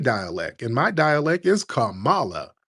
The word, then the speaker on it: Kamala: correct us on what Kamala Harris's name was, it's not Kamala, it's Kamala. Like, no, I speak FBA dialect, and my dialect is Kamala.